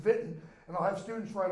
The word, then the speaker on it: Wittenberg: was in Wittenberg w-i-t-e-e-n-p-e-r-g I always pronounce the German pronunciation Vinton and I'll have students